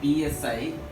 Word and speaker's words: psi: Here the wave function, that is wave functions, this is psi, psi, it is pronounced as a psi.